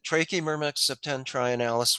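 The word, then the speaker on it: Trachymyrmex septentrionalis: Trachymermex septentrionalis, which is one of our few local fungus farming ants.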